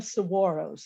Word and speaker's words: saguaro: um we call them saguaros here not saguaros the g's are pronounced like w and awa and saguaro